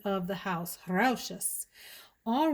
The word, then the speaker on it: Rochas: Thank you to my friend Marshall's Blend Fragrances here on YouTube for the correct pronunciation of the house, Rochas.